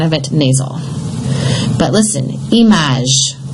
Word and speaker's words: image: But listen, image. Here it's pronounced. Why? Because you have a vowel after it.